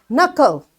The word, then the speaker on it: knuckle: Knuckle. Knuckles. That's your knuckle. So this K is silent.